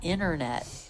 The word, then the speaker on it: internet: Or internet. A lot of people will pronounce that internet.